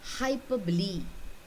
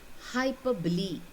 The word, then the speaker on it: hyperbole: do you read this word how do you pronounce this word you say hyperbole hyperbole okay so let us look at some examples